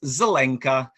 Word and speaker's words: Zelenka: It's Zelenka, and Zelenka is a approximation of the word green in Czech.